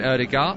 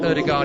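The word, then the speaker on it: Ødegaard: himself in english football there are a few people doing some varied pronunciations of martin erdogar i'm going to wrangle wrangle-size it because i am english you you could do the full norwegian if you want to um but erdegaard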